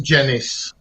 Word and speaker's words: Gennis: It's Gennis. Gennis. Yeah, like a J.